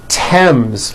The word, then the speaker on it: Thames: spelled with a th they are pronounced as if they were spelled with a normal t like that and these words are thomas thompson teresa thailand thames like the river esther